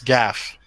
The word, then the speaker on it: Gaff: is it hold on is it an F or a v an F it's Gaff it's funny that you